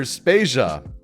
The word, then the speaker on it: Spasia: de Vader and I'm spasia we're brought to you by Anonymous dinosaur and rhymes with Asia it's time to appreciate